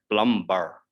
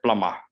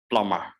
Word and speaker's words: plumber: is in this one b is silent so we do not say plum bar we say plummer plummer so if you want